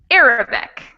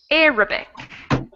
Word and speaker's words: Arabic: that there's three syllables i'm going to say it for you once more and guess again on which one has the stress arabic arabic in the first yes it's the first one definitely okay thank you very